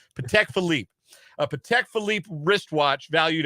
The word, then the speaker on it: Patek Philippe: his Patek Philippe wristwatch I only know how to pronounce it because I listened to rap music otherwise I would have I would be like Paddock Philippi no no Patek Philippe a Patek Philippe wristwatch